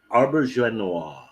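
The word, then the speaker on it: Auberjonois: pronounce his last name i think it's it's pronounced arbor joe noir he's from french canadian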